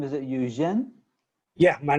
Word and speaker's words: Eugene: welcome and then please help me with the pronunciation of your name is it jen yeah my name is eugene yeah exactly hello my name is eugene i